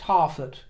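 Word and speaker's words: Harefoot: first was Harold herfor possibly pronounced hard offer by many but I'm going to go with with Herford today because I've never heard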